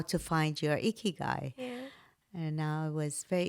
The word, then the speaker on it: Ikigai: Ikigai. Ikigai. Is that the correct way of Yes, pronouncing it? Ikigai. Perfect.